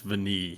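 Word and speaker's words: Vanille: name while you're looking it's french for vanilla v-a-n-i-l-l-e i'm pretty sure it's veneed while you're looking that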